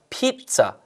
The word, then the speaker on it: pizza: 자, 피자 발음이야. 피자. 왠지 중간에 T가 하나 들어갔다고 생각하세요.